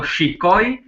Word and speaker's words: shikoj: And we have the verb shkoj, which so the difference is just one E, Albanian E there, and it's very important how you pronounce it. So shikoj, shkoj, to see or to watch, and to go.